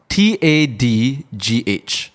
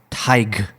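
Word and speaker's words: Tadhg: Mm-hmm, It's actually a Scottish-Irish boy's name, pronounced Tig. So Tadgh is Tig. Tig. I can kind of see how this can be pronounced as Tig.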